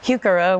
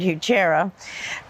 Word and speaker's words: Heuchera: The scientific name is Heuchera, which some people pronounce it Heuchera.